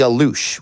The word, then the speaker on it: aluxes: will go forward and calling them the alush we have settled on that pronunciation correct yeah that's what seems to be uh commonly decided on around the web so this is i'm